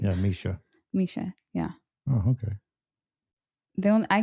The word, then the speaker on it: Mischa: Yeah, because I kept calling her name Mishka. Yeah. And that wasn't right. Yeah, Mischa.